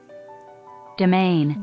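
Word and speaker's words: demesne: Domain. Domain? It's pronounced domain. Demean.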